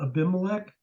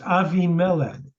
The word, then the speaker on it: Abimelech: Avi Mela AVI or you've heard of abimelech it's a mispronunciation it's Avi melon and what's that mean